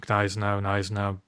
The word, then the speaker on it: Gneisenau: Right, do you pronounce the G on Gneisenau? I don't know. Nice now. Your choice.